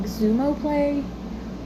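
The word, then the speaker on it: Xumo: So, I want to say it's like Zumo Play, but it's free on those two networks.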